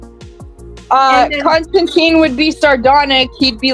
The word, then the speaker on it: Constantine: So it's a word constant I and according to uh according to Alan Moore it was pronounced Constantine.